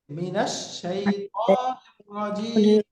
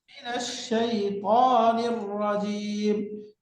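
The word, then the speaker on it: مِنَ الشَّيْطَانِ الرَّجِيمِ: আর যদি মিনের পরে আল যুক্ত শব্দ আসে তখন উচ্চারণ কি হবে? মিনাল মিনাল মিনা, নুনের উপরে ফাথা, মিনাল ফাতা মিনা, মিনা এরকম উচ্চারণ হবে।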